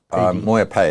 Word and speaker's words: MoyaPay: It's pronounced MoyaPay, is it? Is that correct? MoyaPay, there's no D on the end.